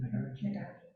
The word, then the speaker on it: Nagarjuna: As Nagarjuna, how do you pronounce his name? Nagarjuna.